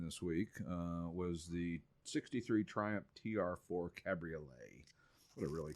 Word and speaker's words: Triumph: week was the 63 Triumph TR4 Cabriolet. What a really cool car. It's red, signal red over black. And is it Triumph or Triumph or Triumph? Triumph. Triumph. Triumph, like Triumph the dog.